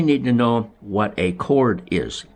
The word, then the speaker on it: chord: Now we need to know what a chord is. And that's spelled C-H-O-R-D. It's not chord like tying somebody up with a rope, okay?